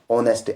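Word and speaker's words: honest: क्या है पावर दूसरा है ओनर और तीसरा ऑनेस्ट अब देखो पहले क्या है अवर हा ओ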